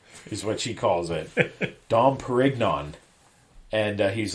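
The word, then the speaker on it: Dom Pérignon: My favorite part is her pronunciation of the champagne. Dom Perignon is what she calls it. Dom Perignon. And he's like, Dom Perignon.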